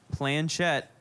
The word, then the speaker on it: planchette: game features a three-legged planchette that's what it looks like it's it should be oh can i just say it because i'll spell it p-l-a-n-c-h the j is silent yeah planchette jet board game